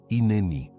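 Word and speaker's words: הִנֵּנִי: Ce mot est "hinéni", prononcé "hi-né-ni".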